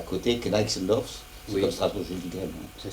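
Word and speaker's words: Gneixendorf: Et à côté, Kneixendorf, c'est Oui. comme Strasbourg-Gilligren. Ça s'écrit G-N-E-I, Kneig, G-N-E-I, Kneig, Z-E-N-D-O-R-F. Z-E-N-D. D-O-R-F. Kneixendorf, Voilà. comme ça se prononce. Kneixendorf.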